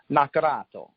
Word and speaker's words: Naccarato: I think it was a lot more sort of ethnic minorities around there, lots of Italians, Naccarato is an Italian name, though technically in the old country it's pronounced Naccarato.